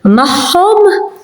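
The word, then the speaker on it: magħhom: So when you have an ein and akka near each other, those pronounce as a h, because they are near each other. So mahom, with them, tahom, theirs.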